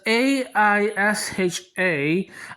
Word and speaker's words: Aisha: There's Aisha and there's Ayesha. The AI spelling is supposed to be pronounced as Aisha, whereas the AYE spelling is supposed to be pronounced as Ayesha.